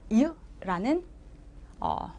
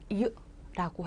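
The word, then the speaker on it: เยอะ: 자, 어와 의의 중간이지만 단모음으로 발음한다. 이 아이, 그래서 한국어로도 하면 이 아이는 이으라는 발음을 가진 음절이 돼요. 이으라고 해요.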